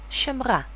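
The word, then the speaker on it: שמרה: sound sh next word shamra same thing the ha does not contribute its h H sound therefore the he is silent and functions as a vowel letter examples of Silent Al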